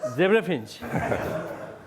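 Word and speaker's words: zebra finch: This particular type of love song is what is called dibapinch, not dibapinch, zebrafinch.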